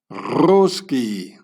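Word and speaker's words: русский: or the Russian in the Russian language it's pronounced roski there There you go.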